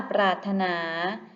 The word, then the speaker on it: ปรารถนา: คะ ถูก ต้อง ค่ะ พยัญชนะ ที่ ไม่ ออก เสียง คือ ร เรือ ค่ะ และ คำ ว่า ปรารถนา หมาย ถึง ต้องการ อยาก